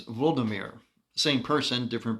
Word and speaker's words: Volodymyr: of Prince Vladimir, or as it's pronounced by the Ukrainians, Volodymyr.